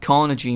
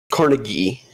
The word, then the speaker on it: Carnegie: of risk yeah um Carnegie is is the pronunciation of the guy's name yeah Carnegie um